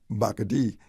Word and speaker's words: Bacardi: Bacadie, back in those days, is the pronunciation of Bacardi. Bacardi, okay. Bacardi.